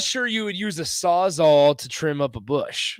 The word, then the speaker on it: Sawzall: Unnamed texter says it's pronounced Sawzall. You city boys. That's Sawzall. from Riley. Sawzall. No L. I'm gonna keep using the L because it saws all.